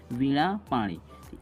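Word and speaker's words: वीणापाणि: वीणा पानी भी पढ़ते हैं इसे। लेकिन इसका सही उच्चारण होता है वीणा पानी।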